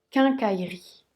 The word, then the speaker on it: quincaillerie: avait juste y est le allafort ne se prononcent pas irie 15/4 irie car en cas irie quincaillerie dans une phrase mon père travaille dans une